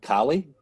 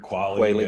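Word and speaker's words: QALY: Okay, so this one kind of raises issues of principalism, and I think you guys pronounce it Kali, Q-A-L-Y aspect of the discussion. I've heard Quayle, I've heard Quali. Okay. Yeah, it doesn't matter.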